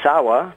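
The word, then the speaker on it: 沢: And Sawa, pronounced Zawa in combination with another word, really means mountain, stream, or swamp.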